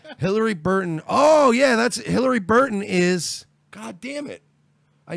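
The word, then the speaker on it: Hilarie Burton: Ben Affleck apologizes for groping actress Hilaria Burton. Hillary Burton. Hillary? Hillary Burton.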